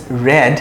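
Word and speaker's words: read: বুক এটা একটু important রিড past tense রেড কিন্তু বানান একই রাইট এখানে একটু কনফিউজ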